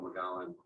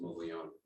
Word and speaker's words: Mogollon: So for those that don't know me, I'm Officer Mogollon, or as it's correctly pronounced, Mogollon.